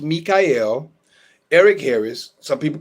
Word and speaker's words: Michael: My name is spelled Michael but pronounced Mikyel Eric Harris.